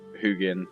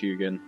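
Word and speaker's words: Huginn: tutorial on otherwise uh hugin i think he's pronounced hugon would have shown up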